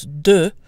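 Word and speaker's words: deux: now just to note you want to make sure to pronounce do with an O sound do do otherwise when it's followed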